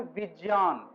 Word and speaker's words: विज्ञान: आप सबों को पता है कि विज्ञान ऐसे इसका सही उच्चारण है विज्ञान, ठीक है, विज्ञान।